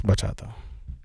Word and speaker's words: bachata: If I'm pronouncing it right. I don't even know it. It's bachata.